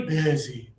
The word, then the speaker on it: busy: A lot of students say this using this sound e bey. I'm so bey. No, you got to go more air and less air.